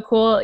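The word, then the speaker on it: Kühl: So Kool is it's spelled K-U-H-L. It's a German word, but they're based out of Park City, Utah.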